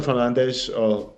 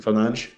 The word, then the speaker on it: Fernandes: So Jason Fernandez, I've been thinking I should do this for a while. Apparently, it's actually pronounced Jason Fernandes. Fernandes, yeah, Fernandes.